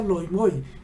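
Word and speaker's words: λοιμοί: Esta palabra en griego es loimoxeis, que se pronuncia loimoi.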